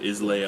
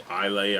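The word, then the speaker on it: Islay: pronounce it i mean i've heard it isla i've heard i lay i've had everything from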